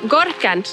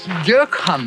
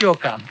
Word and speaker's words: Gökhan: Gorkan. Gökhan. My name is Gökhan. Okay, I'm not very good at pronouncing his name.